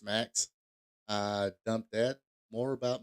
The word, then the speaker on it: Max: Um, because I actually I dumped Max, which was called HBO Max, pronounced as Max.